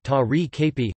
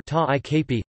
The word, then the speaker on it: tagrikup: For example, tagrikup, boy, may be said either ta-ri-kp, or ta-i-kp.